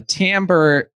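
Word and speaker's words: timbre: real good question because on piano uh the tamber has kind of two meanings to me it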